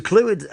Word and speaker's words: Clwyd: Your pronunciation of Clwyd is spot on, actually.